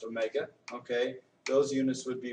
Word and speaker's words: omega: letter Omega looks like a W but it's pronounced Omega okay those units would be radians per second